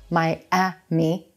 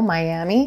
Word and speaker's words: Miami: vowel it's very quick now notice there's a hidden Y sound at the beginning of that second syllable as we Glide between vowels so it's not my ah me Miami Miami did you know Miami